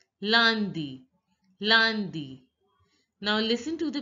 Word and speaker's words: lundi: Monday is pronounced as lundi. Lundi. Lundi. See, this UN is the nasal sound in French. UN is the nasal sound and its pronunciation is a. Ah, ah. So it is lundi, lundi, lundi.